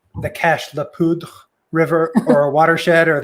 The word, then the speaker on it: Cache la Poudre: We for some reason somebody said let's keep the first part of the French pronunciation, but definitely not the second part. So it's the Cache la Poudre watershed.